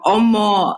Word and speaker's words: Omo: So basically, Omo, although I'm saying it in the Oyibo way, Omo is how you pronounce it.